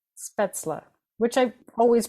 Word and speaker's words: Spätzle: how we learned to pronounce it spla right speta which I always pronounced wrong apparently speta is like if you